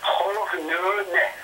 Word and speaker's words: خغ نونه: به نام خغ نونه خغ نونه ها یک تلفظ بسیار ثقیل هست و مسلماً نبود صدای صدای صدای غ در اکثر از زبان‌ها باعث از این شد که نام خغ نونه به طور نادرست در متون قدیم تاریخی